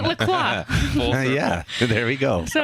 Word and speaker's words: LaCroix: Pronounce it Lacroix.